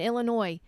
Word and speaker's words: Illinois: you don't know that the S is silent in Illinois did you go to